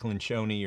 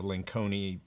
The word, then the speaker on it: Lencioni: It's Patrick Lencioni or Lenconi, I think you pronounce his name, but a couple of different ways.